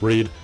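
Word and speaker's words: Reid: the same stuff that Reed yeah I'm saying it correctly this time Reed I apologize for constantly saying raid just raid just sounds cooler but I've realized by now it's Reed so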